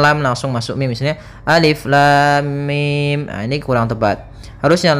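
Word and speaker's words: الم: Maka cara yang benar membacanya adalah seperti ini: alif lam mim. Panjangkan dulu lamnya. Kita ulang kembali: alif lam mim. Nah, di sini mimnya termasuk mad lazim harfi mukhaffaf, yaitu kita panjangkan dengan panjang 6 harokat pula, tapi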